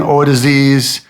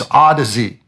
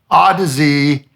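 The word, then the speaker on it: Audeze: not cuz I like I have Manny morok o dis or how do you how did Bob Bob Olson told me I'm pronouncing it wrong it's odsy odsy Manny morok mm500 open back headphones and this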